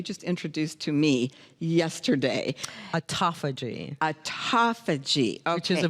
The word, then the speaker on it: Autophagy: Autophagy. Autophagy. Okay. Which is a very interesting word, and I mispronounced it, and my daughter teased me every time I said it.